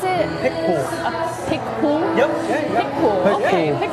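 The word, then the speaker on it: Picpoul: Wait, how do you pronounce it? Pic Pool.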